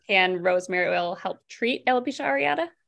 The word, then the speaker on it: alopecia areata: I think it's alopecia areata.